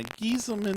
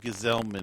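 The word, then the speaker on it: Gsellman: Now, Gieselman, there had been some talk about, Gesellman, excuse me. They changed the pronunciation between the minors and the majors, I guess.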